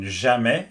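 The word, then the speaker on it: jamais: And it's always valid for the J. It doesn't matter what vowel is after the J like in jame which means never. You always get the same sound.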